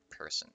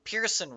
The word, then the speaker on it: Pearson: We have Bernard, Little, Devlin, Margaret, Montana, Person. Look at me pronouncing my own fucking last name wrong. Pearson West, Pearson Yard, Pearson East, Uri.